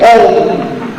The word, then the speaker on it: Om: El Om tiene en su contenido el hombre, Om. Om. Se pronuncia U y la resonancia es O, decía el maestro.